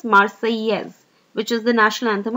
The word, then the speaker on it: Marseillaise: French pronunciation is Marseillaise, which is the national anthem of France.